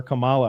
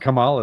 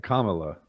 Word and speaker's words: Kamala: I I keep getting corrected on how to pronounce her name but I don't mean to disrespect when I call her Cala I just thought it was her [ __